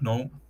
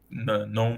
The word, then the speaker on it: GNOME: then hopefully I'll add GNOME. GNOME, sorry, the G is silent, or GNOME for GNU.